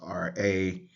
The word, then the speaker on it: Ra: That is transliterated with the letters RA, and we would say that's Ra.